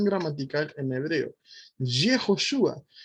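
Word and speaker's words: יהושע: No empieza con Yud, Hei y nada más, que diría Yahoshua, ¿verdad? Hay muchos que dicen, no, es que es Yahoshua, no, es Yehoshua.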